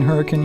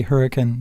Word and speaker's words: Hurricane: Dean says he's in Hurricane, Utah. Very good. That's how you say it, by the way, when you're local, is you say hurricane, not hurricane, just for those who want to visit.